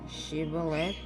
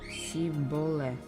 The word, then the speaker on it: Shibboleth: If he answered no, they told him, "Please say Shibboleth." If he said Siboleth, because he could not pronounce it correctly, they seized him and executed him at the fords of the Jordan.